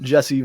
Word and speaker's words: Djesse: Those are all great descriptors for our next week album, Djesse Volume 2, spelled with a D at the beginning, so it's DJESSE for those that are going to be Googling.